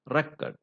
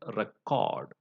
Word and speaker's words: record: uh record you know when the word record is used as a noun the stress is on the first syllable and it becomes record record whereas when it is used as a verb it becomes record the stress is on the second syllable uh another one is